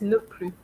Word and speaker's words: ne plus: Okay, so when you have ne, N-E-N, plus, P-L-U-S, is ne plus, not plus. Okay?